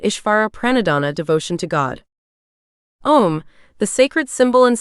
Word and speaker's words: Om: pranadana Devotion to God om the sacred symbol and sound of the absolute the source of all creation om is also spelled AUM and consists of three syllables a u and M representing the three aspects